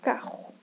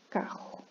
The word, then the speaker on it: carro: Não precisa de cuspir, mas é quase como se fosse fazê-lo, tá? Então é carro, carro.